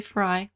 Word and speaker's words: Frey: later a woman called amber Frey or Frey yeah most people say Frye I think it's right yeah although it's spelled like prey PR ey so then anyway I'll